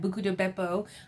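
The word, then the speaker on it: Buca di Beppo: I still have not been to that Capri room at Buco de Beppo.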